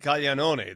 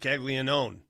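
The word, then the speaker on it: Caglianone: I would pronounce it cayanon. They saying it kegleon. It's not that. That's the American version, right?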